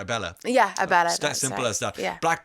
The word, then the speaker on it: Abela: Yeah, Abela.